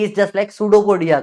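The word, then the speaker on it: pseudopodia: पी is just like सूडोपोडिया का पी। सूडोपोडिया में P silent होता है।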